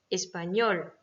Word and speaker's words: español: Exemple, professor, espagnol. D'accord? Donc là, c'est sor et ñol qui sont accentués.